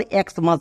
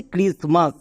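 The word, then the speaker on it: Xmas: একে অনেকে আবার এক্সমাস বলে। এক্সমাস কিন্তু না। এটা হচ্ছে ক্রিসমাস।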